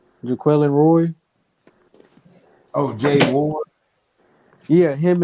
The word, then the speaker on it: Jaquelin Roy: Jaquelin Roy.